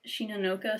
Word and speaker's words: Shinanoka: The title of the series is pronounced Shinanoka, strictly meaning poems on the 7th day. However, Shinanoka also means is it poetry.